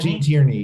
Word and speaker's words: Gene Tierney: So this leads us to Gene Tierney, who is am I mispronouncing her name? Gene Tierney? Gene Tierney, yep, you're correct.